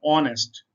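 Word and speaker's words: honest: नेक्स्ट देखते हैं हम, there sun and daughter are ऑनेस्ट। ये एच को नहीं पढ़ना, ये साइलेंट है, खामोश है, ओ से स्टार्ट करना है इसको।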